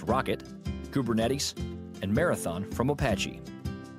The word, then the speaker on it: rkt: Alternatives, RKT, usually pronounced Rocket, Kubernetes, and Marathon from Apache.